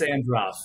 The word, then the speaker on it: Androff: It's Androff. You got it, Russ.